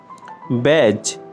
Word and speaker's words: badge: Silent letter D. Badge. ব্যাজ, প্রতীক, তকমা।